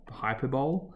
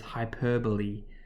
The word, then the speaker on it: hyperbole: confused we think it's hyperbole we pronounce this hyperbole you pronounce that e at the end not a silent e so hyperbole is just